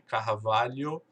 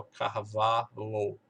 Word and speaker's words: Carvalho: Se você tem esse sobrenome, Carvalho, muito provavelmente o americano vai ter dificuldade de pronunciar e vai acabar ignorando esse H e vai dizer só Carvalho.